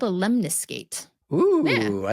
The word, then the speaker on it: lemniscate: on its side mhm no it's called a lemnis skate oo I like that spell that out for me uh l e m n i s c a t e lemniscate or one word it's from the Latin